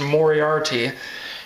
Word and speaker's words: Moriarty: So then this is a new book, and I guess it's pronounced Moriarty, and I guess he's Sherlock Holmes' nemesis.